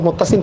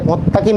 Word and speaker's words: মুত্তাসিন: অনেকেই আমার ভিডিও দেখেন, অনেকে নাম উচ্চারণ করতে পারে না, অনেকে বলে মোত্তাকিম স্যার, মানে নাম চেঞ্জ করে মোত্তাসিনটা মোত্তাকিম হয়ে গেছে।